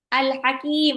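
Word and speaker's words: الْحَكِيم: Alhakim ada alif lam qamariah lagi. Karena alif lamnya bertemu sama ha. Alif lamnya dibaca jelas.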